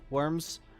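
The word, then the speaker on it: wyrm: to pro announce um the old english spelling was worm with a u which was a variant on y w yrm so i'm guessing it's been pronounced like worm since the very beginning seems like it's just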